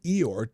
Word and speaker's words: EOIR: office for immigration review EOIR pronounced like Winnie the Pooh EO um which oversees deportation cases under the Department of Homeland Security Secretary Alejandro Mayorus. The Biden administration used Eeyore to manipulate removal hearings